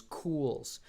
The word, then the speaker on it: Coolz: One of the earlier house brands Fujigen used before they labeled them as Fujigen was Cools. It's a lot more subtle of a headstock. It's spelled Coolz.